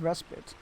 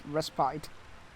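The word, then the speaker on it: respite: you enjoyed your resit I always forget it's pronounced respit I always I always think it's ried uh it brings me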